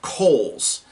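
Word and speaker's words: Cole's: it c-o-l-e apostrophe s they call it coals Kohl's department store there's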